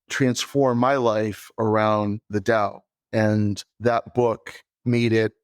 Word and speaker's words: Tao: audience who don't know what the Dao is it's spelled Tao and I'm going to